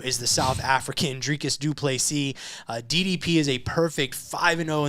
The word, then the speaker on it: du Plessis: Number 2, Robert Whittaker versus number 5, Dricus du Plessis. The S is silent at the end.